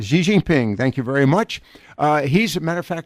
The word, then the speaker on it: Xi Jinping: And I can never pronounce his name. Xi Jinping. Xi Jinping, thank you very much.